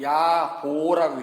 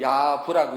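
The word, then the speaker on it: 冶父: 그런데 스승을 통해서 배운, 정식으로 배운 사람은 야보라고 읽어요. 이름이거든요. 근데 스승 없이 혼자 배운 사람은 그걸 야부라고 읽어요.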